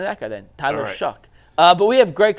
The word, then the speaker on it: Shough: last year at Louisville shuck well shuck is how it's pronounced I listened to like